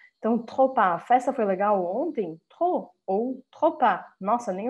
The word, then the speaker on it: trop: Então, não é para pronunciar o P nem o S ao final das palavras. Tá? Vou até marcar eles de vermelho para vocês lembrarem que a gente não fala isso aqui. Trop e tropa, tá?